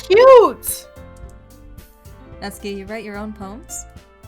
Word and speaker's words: Natsuki: it's not the same you can say natsuki it's not tsu not to key just like that every time please don't